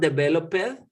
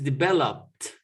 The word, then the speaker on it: developed: So it's not developed, is developed.